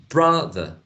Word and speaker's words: brother: a full vowel sound now in the second syllable of the word brother in the case of the the that syllable is not stressed so there is a high probability that we will find there a schwa brother the the